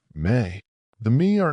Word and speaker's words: me: He offers her the me, pronounced me.